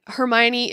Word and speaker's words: Hermione: It's kind of like when you're reading Harry Potter and you never heard the audiobook and Hermione is Hermione.